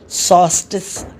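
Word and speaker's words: solstice: इसमें L silent रहेगा, सॉल्स्टिस। सॉल्स्टिस क्या बोलना है?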